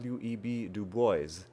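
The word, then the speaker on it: Du Bois: mispronouncing this person's name it's actually web du boys and in fact there's going to be a later uh clue in this Crossroad itself which was about silent S's which if I had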